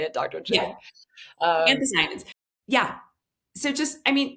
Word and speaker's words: anthocyanins: Um, anthocyanins.